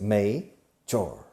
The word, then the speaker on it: major: Now, major, la pronunciación, major, se escribe major, pero se pronuncia may, como el mes de mayo en inglés, major. Okay, major.